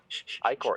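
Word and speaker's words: ichor: right now and i'm looking up how you pronounce i-corps okay or icker um washing their clothes hang on yeah you got to get those christmas reefs eye core it's encore eye core that's what my phone says yeah like like igor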